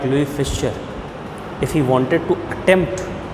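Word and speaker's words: Louis Fischer: The spelling shows it Louis Fisher, but the name will be pronunciated as Louis Fisher.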